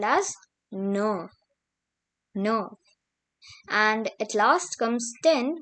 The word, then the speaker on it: neuf: Now we have 9, which is called as neuf. And at last comes 10, which is pronounced as dix.